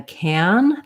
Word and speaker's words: can: this a vowel but if i'm saying it as a helping verb i don't really use that vowel i don't say i can go i say i can go i can go so it ends up sounding more like the f of n or even almost no vowel there at all i can i can